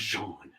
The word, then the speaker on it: Jean: lance out there like it's pronounced jean like a frenchman i'm not changing it